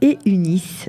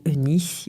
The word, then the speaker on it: Eunice: Elle s'appelle Eunice, si on le prononce en brésilien, ou Eunice.